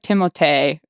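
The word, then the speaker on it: Timothée: to flame me but Timothy Shalomé. Is that right? I think I think you said it right. It's like Timote technically but whatever.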